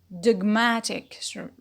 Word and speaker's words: dogmatic: with the a vowel the next noun root which is dogma dogma it becomes digmatic dogma dogmatic so we notice a vowel uh shift sorry a stress shift and a vowel change from door with or to de with the schwa and merch was uh